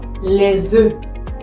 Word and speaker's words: œufs: Pero si, por ejemplo, está en plural, como podemos verlo acá, se dice E. Ejemplo, les œufs, les œufs.